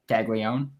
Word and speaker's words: Caglianone: Caglianone.